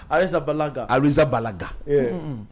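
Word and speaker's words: Arrizabalaga: I know I know how to say how you say how you say what arisa balaga they don't pronounce it it's balah okay that's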